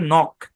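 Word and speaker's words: knock: এখানে কে এন আছে এখানে কে টা সাইলেন্ট তাহলে একটু অংশের উচ্চারণ হবে নক সি কে উচ্চারণ কে এর মত হয় আপনারা জানেন এ শব্দের উচ্চারণ কি নক এবং মজার ব্যাপার হচ্ছে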